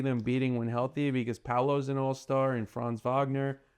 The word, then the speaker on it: Paolo: Am I pronouncing his name right? Paolo. Paolo.